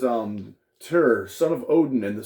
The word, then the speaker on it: Tyr: in the last video some people have pronounced it tear or whatever t-y-r is what they call it but i mean i looked it up it's like a nordic thing called uh it's just pronounced tur but um and the cool